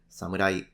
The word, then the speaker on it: samurai: are interested in Japanese these are pronounced Yari Katana and Samurai if you want to